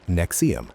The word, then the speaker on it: NXIVM: In 1998, Keith co-founded Executive Success Programs ESP, which would later become known as Nexium, pronounced Nexium.